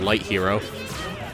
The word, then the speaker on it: Lythero: I will tell you that Lythero is originally pronounced Light Hero.